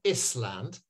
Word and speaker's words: island: Island so it's not Island it's it's Island so it's this and that we don't sound the s in our in our